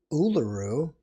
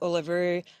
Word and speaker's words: Uluru: She grew up in the deserts of Central Australia, and now she is what appears to be in Central Australia with Uluru, if I'm pronouncing that correctly, in the Yes.